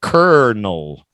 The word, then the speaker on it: colonel: no k-e-r pronunciation Cur I know c-o-l-o but the pronunciation in English is k-e-r Kernel Colonel Sanders colonel in